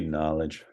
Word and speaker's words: Nolej: I might mispronounce this, Nolej Records? It's supposed to be Knowledge. We Knowledge. just spelled it that way because we were young and thought it sounded cool, and it's just been a lot of trouble.